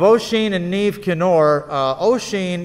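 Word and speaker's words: Oisín: and neve kinnor uh ocean is spelled o s i uh o s o i n it's an irish uh spelling uh and neve is spelled n-i-a-m-h it's it's not a phonetic language uh neve kennar is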